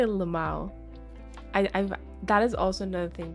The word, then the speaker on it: LMAO: Right, okay, I say it as Lamau, like, but it's, you know what I mean.